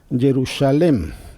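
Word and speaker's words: ירושלם: Se escribe de tal manera que suena Jerusalem. Jerusalem. Sin la letra Yod.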